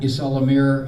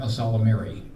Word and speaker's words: Ysalamir: Ysalamiri? Isalamir, a Salamiri, for the plural. It keys off of salamander, phonetically.